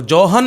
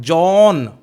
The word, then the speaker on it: John: JOHN में H silent रखना है आपको, जोहन नहीं बोलना है, जॉन. ओके, और डॉन भी नहीं बोलना है, DONNE, done. The correct pronunciation of the poet is जॉन Donne.